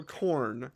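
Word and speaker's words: Khorne: Google it okay uh so corn corn is the god of battle and anger like it's spelled k a h o r n e okay yep and he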